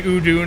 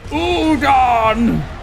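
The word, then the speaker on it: Udûn: He can't even pronounce it the same way that Ian McKellen did. Doesn't say Udun, he says Udon!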